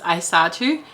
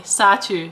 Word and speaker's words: Aisatu: So my name is pronounced Aisatu, and they were saying Satu, Satu, Satu.